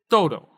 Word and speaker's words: todo: We're going to say todo. Todo. And we emphasize that first one there.